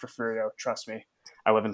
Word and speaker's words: Refugio: I know there's a G in there, but it's pronounced Refugio.